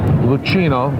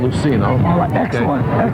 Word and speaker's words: Lucino: you love there's versaces uh lucino not Luciano is their leading uh